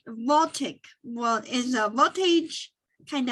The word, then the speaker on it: voltaic: of a solar photo voltage did i say it right yeah voltage is voltaic well is the voltage